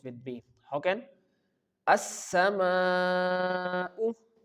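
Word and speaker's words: السماء: So, here we have to stretch this word for four counts.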